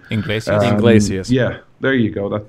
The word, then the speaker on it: Iglesias: "Hero" by Enrique Gonzalez, or ever how you pronounce that guy's name. Iglesias.